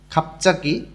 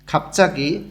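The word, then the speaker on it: 갑자기: ফাদাক মেঝে, ছাংমুন জানালা, খাপচাকি হঠাৎ, বিয়োগ বাচ্চিমের পরে জিউতে আসলে জটা চ উচ্চারণ হয়। খাপচাকি হঠাৎ, দেখেন উচ্চারণগুলো পরিবর্তন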